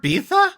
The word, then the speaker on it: Ibiza: What is that word, Bitha? How do you spell that? Does anybody know what they're saying? Because this is important now because he's saying that you can't do this when you're 40. That's how you pronounced Ibiza.